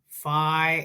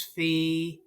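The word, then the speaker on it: phi: bunch of cases and I sometimes mispronounce fi as Fe so I'm noticing those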